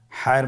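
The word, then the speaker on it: ح: হায়ের মধ্যে কোনো নোক্তা আমরা দেখতে পাচ্ছি না। হা হরফটি কীভাবে উচ্চারিত হবে? হা হরফটি উচ্চারিত হবে কণ্ঠনালীর মধ্যখান হতে। গলা চিপে ধরে আপনি উচ্চারণ করুন।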